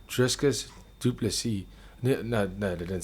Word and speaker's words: Dricus: i thought to myself how do you get my name driskus like i can understand this function like to pronounce it is harder for the american people but driscus there's no s and then we i